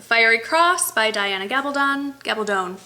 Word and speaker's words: Gabaldon: Gabaldone rhymes with stone I was told and um starts off in Scotland and kind of takes off from there.